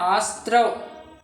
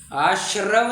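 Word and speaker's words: आस्रव: अरे इसका उच्चारण आशस्त्रव ऐसा होता है। आश्रव नहीं आशस्त्रव हां करेक्ट करेक्ट करेक्ट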